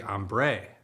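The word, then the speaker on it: ombré: It's actually ombre.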